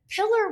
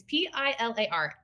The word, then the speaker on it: Pilar: And I was like, but my mom calls me and she says, Pillar Wayne just wrote us a letter. She says, Pillar Wayne. It's Pilar.